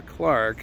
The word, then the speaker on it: clerk: I know we say clerk over here, but I like the British pronunciation better. I like Clark. I think Clark sounds cooler, don't you?